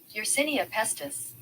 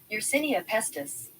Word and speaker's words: Yersinia pestis: Yersinia pestis. Yersinia. Yersinia pestis.